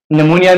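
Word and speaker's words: pneumonia: psychology या साइ कीी निमोनिया में भी हमारे साथ प है तो पी के बाद एन आया हुआ है तो यहां पर भी पी साइलेंट है अब ये एक वर्ड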